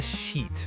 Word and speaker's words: sheet: Very soft e sound. Not a short I.